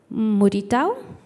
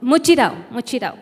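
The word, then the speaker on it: mutirão: es un momento de muritao, minga, cabello con cabello, ¿cómo se dice en brasileño? Sí, mutirao, sí.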